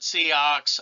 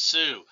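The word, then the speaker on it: Sioux: uux don't pronounce it seaox or anything like that it's Sue like you know you get sued by somebody which in this case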